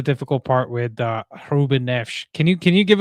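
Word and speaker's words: Neves: Um, so that's the that's the difficult part with uh Ruben Neesh. Can you can you give us a a Portuguese pronunciation, please? I was kind of hoping you would do that. Reuben Nevs.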